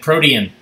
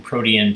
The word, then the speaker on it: protein: and then they said protein um i would love to find out when where in the timeline of western culture the pronunciation change from protean to protein there is definitely i